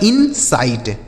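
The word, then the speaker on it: insight: से हो जाता है स आई टी ई से क्या बताया हमने आपको? आइट तो यह हो गया आपका इंसाइट मतलब इसमें जो है आइट मिल जाता है। ऐसा नहीं है कि आई आपको अलग से लिखना है। नहीं इसको इसमें मिला देना है। मतलब इनसाइट।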